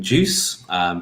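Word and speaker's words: Guice: originally built with on juice pronounced like the drink juice developed by google around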